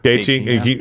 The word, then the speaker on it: Gaethje: kicker, Dana White, Jorge Masvidal, Colby Covington, Justin Gaethje. Say it again. Justin Gaethje. Gaethje, Henry Cejudo. Yeah. All right. I thought that's how you pronounced it, but I wanted to make sure.